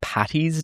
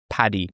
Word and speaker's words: Paddy: I noticed a lot of Americans say St. Patty's Day with two T's. Patty. Paddy. Two D's. Interesting. So that's the Irish way.